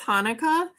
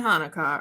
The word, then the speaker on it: Hanukkah: Actually, both Hanukkah and Hanukkah are right. The holiday's name is Hebrew, so there are different ways to spell it and say it in English.